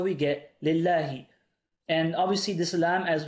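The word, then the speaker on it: لله: Now, how do I know to read this lillahi? Well, the original word is spelt like this, Allah. Now, what I could do, if I wanted to add a lam, I'd write it like this. But you don't need to do that. Why? Because there's already a lam here. And this lam is silent in the actual word. This lam is a silent lam here.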